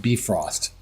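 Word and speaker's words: Bifrost: S T, and actually I think it's pronounced Brost in appropriate um Viking lingo.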